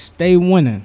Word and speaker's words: Staii Winnin: Now, I don't spell it to stay. I don't spell it S-T-A-Y. Of course not. Yeah. It's S-T-A with two I's. Winning. Without the G.